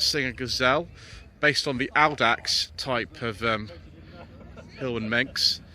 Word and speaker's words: Audax: 1966 Singer Gazelle, based on the Audax type of Hill and Manx. I say Audax because that's the way when I did Latin A-level they taught me to say it.